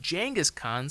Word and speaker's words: Genghis Khan: And if you're interested in learning more about Genghis Khan, which is actually pronounced Genghis Khan, surprisingly, I point you no further than Dan Carlin's Hardcore History.